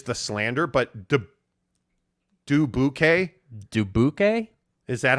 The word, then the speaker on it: Dubuque: story keith carl says people get pissed when outsiders make fun and pronounce it as do boo k wait people really pronounce it though it's dubuque bro like i mean any